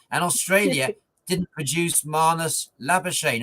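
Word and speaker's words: Labuschagne: Australia didn't produce Manus labain who's known in South Africa I believe as Manus lavash did I get the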